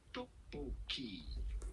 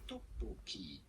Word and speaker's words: tteokbokki: That would be pronounced tteokbokki. Tteokbokki.